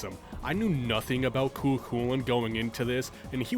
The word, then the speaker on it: Cú Chulainn: For example, Cú Chulainn seems to be the most popular way to pronounce his name, so that's the one I'm going to be going with. But other pronunciations like Cú Chulainn with more of an H sound I also ran into.